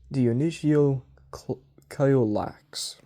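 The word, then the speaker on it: Dionysiokolakes: He called them, and he uses a ancient title, Dionysio Caiolax. I'm not mispronouncing. That's how it's pronounced that's how it's written on the page.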